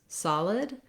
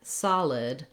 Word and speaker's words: solid: So first of all, looking at the word solid, sometimes we see that letter O and we think we need to do some kind of more rounded or O-like sound.